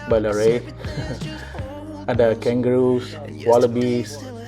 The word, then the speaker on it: Ballarat: It's a little bit Ballarat. But, Nazri, it's pronounced Ballarat.